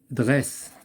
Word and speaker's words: Dresse: Dresse, il se prononce S.